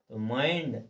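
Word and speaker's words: mind: बता रहा है कि बाद में एनडी आए या एलडी आए तो हम ज कते हो आई को आई ही पढ़ हैं देखिए माइंड देखो एंडडी लास्ट में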